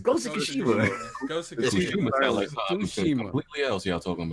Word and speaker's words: Tsushima: Kushima. I like how he said it. It's Ghost of Tsushima.